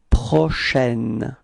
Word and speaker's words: prochaine: nuit prochaine, okay, so for the pronunciation it's prochaine, it's open, it's a, okay, prochaine, so la nuit prochaine, repeat.